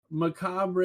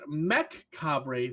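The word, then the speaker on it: Mechabre: the mispronunciation is excruciating so again it's Mech cabre for the sniper rifle not macabre so makeup not macabre just like in macabre so bungee help we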